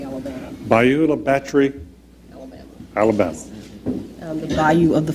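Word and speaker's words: Bayou La Batre: Because I was looking at that and I said, I'm going to mispronounce this, so I thought I would ask you. It's Beulah Battery, Alabama. Beulah Battery?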